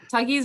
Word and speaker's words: Tuggies: Tuggies rhymes with Huggies.